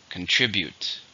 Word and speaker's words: contribute: cause it's a verb how many syllables are in contribute three stress in a second contribute you can contribute time